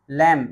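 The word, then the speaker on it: lamb: टॉम टॉम माने समाधि एल ए एम बी लैंप लैंप नहीं पढ़ा जाएगा बच्चों। यह पढ़ा जाएगा लैंप। लैंप माने मेमना डी ई बी टी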